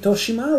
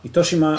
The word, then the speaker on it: Itoshima: Itoshima. Can you spell that? Itoshima? I thought you said... Yeah. Sorry, I said it wrong. Yeah. I was saying Toshima, but Itoshima.